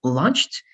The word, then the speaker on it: launched: we say other right so au is going to become o most of the time all right so in this case launched is going to be the best way of pronouncing this launched or automatic those kind